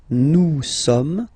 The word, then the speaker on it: nous sommes: Nous sommes. Okay, nous sommes. Okay, so you don't pronounce the final S here, it doesn't exist.